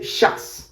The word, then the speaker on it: jazz: For example, me gusta la música jazz, but in Argentina we don't say jazz, we say jazz. Jazz, yeah. Yeah, we also change the pronunciation of J, and we say jazz. Me gusta la música jazz. And we don't say Z sound. Z sound does not exist in Argentina, it's just S. So, jazz.